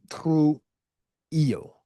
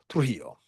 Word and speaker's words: Trujillo: I think it's Trujillo. Because it's two L's, so it's yo, right? Okay. Trujillo, who blamed the Haitians for the massacre, who was a propagandist who helped to change the narrative.